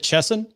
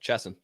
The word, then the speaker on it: Chesson: Do you pronounce it Chesson? That's correct. Yep. Chesson.